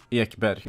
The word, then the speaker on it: Ekberg: Ekberg is how you say it in Swedish, boys. He have a Swedish name.